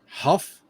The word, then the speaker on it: Huff: pronounce that last name huff huff yeah believe it or not it's like you just like the hot puff okay it's like david hasselhoff but it's just without the hassle okay david huff